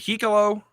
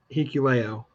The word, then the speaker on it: Hikuleo: Is it Hikalo? Is that how you pronounce it? Hikuleo.